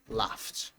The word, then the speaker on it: laughed: Laugh ends with a sound of f a f sound. So then if you have ed the pronunciation is laughed laughed.